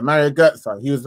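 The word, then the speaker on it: Götze: He's like Mario Goetze. Bro, he couldn't even say it, And then she was like, no, it's Goetze, Mario Goetze.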